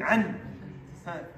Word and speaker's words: عن: Don't say عن أصحاب. عن. Pronounce noon. عن.